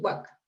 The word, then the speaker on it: WACC: o centroamérica toda suramérica le decimos waka o sea siempre siempre se pronuncia siempre se pronuncia no siempre se refieren a teseo como el waka y uno ya lo